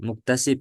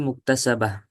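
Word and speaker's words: المكتسبة: Ketika di sini yang benar itu muktasaba, bukan mukta. Tadi bacanya apa? Muktasib, ya kan? Naam Kalau Ustadz. kalau muktasibah itu isim fa'il. Kalau al-muktasabah itu isim maf'ul. Nah, di sini muktasabah. Yang lebih tepat itu muktasabah.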